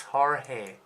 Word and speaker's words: Jorge: Spain because it's the J, the H, and the R, and again the G. It's like Jorge.